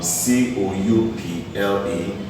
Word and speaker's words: coup: Option B can be said to be, C-O-U-P-L-E. C can be C-O-R-P-S, and option D will be C-O-U-P. This is a common thing in examination, P here is called coup. Coup. The P is silent.